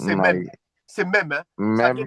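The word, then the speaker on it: מם: Alors ça se prononce c'est même c'est même hein.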